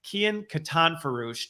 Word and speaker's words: Kian Katanforoosh: today I am joined in this conversation by Kian Katan farouche did I pronounce it right it's been a while since